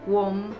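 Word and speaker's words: Qom: Com. No lo acabo de aprender recién porque lo dijiste vos, ¿no? Com, se dice com, en realidad es como una especie de C glotal.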